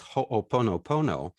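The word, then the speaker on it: ho'oponopono: of all of you it's everything gets pronounced every V gets pronounced unlike what we do here in California where it's sometimes you can't even call it English uh it's in Hawaii it's hoopono Pono you just pronounce every every every letter that's helpful and so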